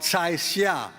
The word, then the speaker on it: Cai Xia: Some of you have mentioned to me and have read, those in Foreign Affairs, articles by a woman called Cai Xia. Cai is spelled C-A-I, that's her last name.